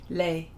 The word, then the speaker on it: lei: jonah says chrissy no you don't pronounce the s in lei oh okay all right there you go thank you thank you lei oh there's la and